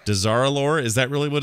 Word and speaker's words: Dazar'alor: Dazar'alor. Dazar'alor.